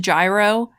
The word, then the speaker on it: Gyro: Like how I was pronouncing Gyro Jojo's name before I was informed it's just Gyro cuz he spins.